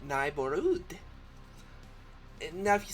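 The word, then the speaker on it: Nigh'Borüd: Okay, so it's spelled Nigh, N-I-G-H, apostrophe, capital B-O-R, space, a U umlaut with a D. So, Neighborhood.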